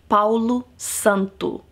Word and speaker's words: Palo Santo: Santo para los Santo and that's how you pronounce it Palo Santo it is holy wood it is said that